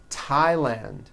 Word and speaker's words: Thailand: with a t H they are pronounced as if they were spelled with a normal T TT like that and these words are Thomas Thompson Teresa Thailand TS like the river